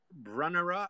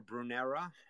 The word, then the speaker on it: Brunnera: its name next up brunnera or brunera I I hear people pronounce these things so many different ways I don't even know the right way anymore but I call it brunera macrophila or Siberian bug